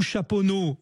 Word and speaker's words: Chaponost: Puj qui est à alors on prononce Chaponost ou chapono Florent on prononce chapono effectivement chapono voilà ça c'est